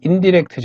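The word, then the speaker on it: INDIRECT: 에이드 함수를 적용 했죠 네이버와 악사 전에 보니까 검 캐러 데이트 라고 발음을 하더라구요 인 다이렉트 라고 저는 함수인 달에 탐스러워 하는데 자 미국식 영어 로는 인 디렉트 저거 뭐 어쨌든 저는 컴 캐러 네이트 인 다이렉트 라고 부를 겁니다 그래서 이렇게 텍스트 1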